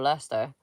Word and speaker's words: Leicester: I wouldn't really call Leicester or Leester um a rich place. Would you V? Would you call it? Not your Lester. You can hear my set when I say that.